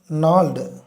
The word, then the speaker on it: gnawed: 5th stanza, when swollen eye meets gnawed, அதை அப்படி தான் ப்ரொனவுன்ஸ் பண்ணணும், gnawedன்னு சொல்லக்கூடாது, gnawed fist when snaps